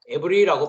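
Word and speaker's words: עברי: 그래서 여기 히브리인이라고 한글 성경은 기록되어 있지만 히브리어는 에브리라고 되어 있습니다. 에브리라고 발음을 합니다.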